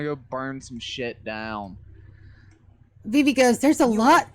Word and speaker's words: Vivi: Sorry, it's Vivi. V-I-V-I.